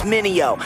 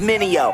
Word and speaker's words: Mineo: Try say my name, it's Minio. Say it with me, Minio.